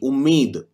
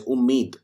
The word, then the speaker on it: UMMID: UMMID, Umeed. Umeed means hope in English. In Hindi, we pronounce it as Umeed.